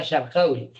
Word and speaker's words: Sharqawi: En egipcio sabéis que no pronuncia la kaf. Dice Mohammed Sharawi, pero era Sharqawi.